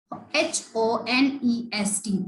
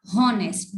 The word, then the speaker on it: honest: about silent letters like HONEST. This is not honest. This is honest. The H is silent over here.